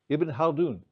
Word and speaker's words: Ibn Khaldun: How do you pronounce it? Ibn Khaldun.